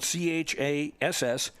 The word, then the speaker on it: Chassiddy: And just if you think I'm being sloppy in the pronunciation of her first name, it is spelled Chassiddy. No T's there at all.